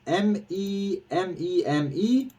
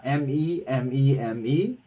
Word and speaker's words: MEMEME: out how it's pronounced I would assume it's meme me or me meme uh and not me me but uh yeah it's